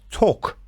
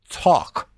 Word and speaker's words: talk: we have talk remember we do not pronounce these L's walk talk this sounds o Americans say a walk talk you can look them